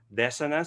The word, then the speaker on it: dissonance: It should be pronounced as indelible, as in the indelible ink that cannot be erased. Dissonance, it should be dissonance.